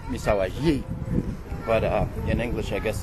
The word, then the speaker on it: Misahualli: we just arrived in Misawa Lee it's actually pronounced miss Hawaii but in English I guess it's probably better to say miss Sally and when you are when you get to